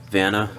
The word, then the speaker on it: Vanna: concert that had Beartooth, Vanna, I think that's how you pronounce it, Vanna, V-A-N-N-A, and they also had